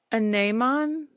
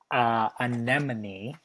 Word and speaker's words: anemone: Anemon? No. No, I don't know. There will be no sentence usage. Well, I have no idea. How do you pronounce that? It is pronounced anemone.